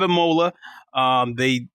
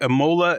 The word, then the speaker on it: Imola: They have Imola.